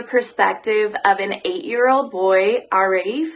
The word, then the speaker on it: Arif: It is written from the perspective of an 8-year-old boy, Arif. I might be saying his name wrong. It's Aref.